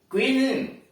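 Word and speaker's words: cuisine: क्विजिन, QUI.SINE, क्विजिन, पकाने की शैली।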